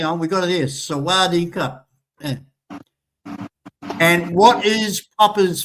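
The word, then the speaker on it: สวัสดีครับ: Normally you'd say Sawadee Cup, which is the male part of, female would say car.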